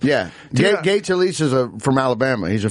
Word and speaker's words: Gay Talese: Gay Talese is from Alabama.